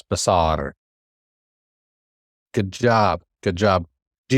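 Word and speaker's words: בשר: And this is a S, not a sh, but a S. B. Basar. Roll your R like you do in your Spanish class. Basar.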